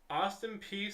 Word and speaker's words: Austin Peay: the university great piece stayed that's how you pronounce it Austin Peay State University Austin Peay State University named Austin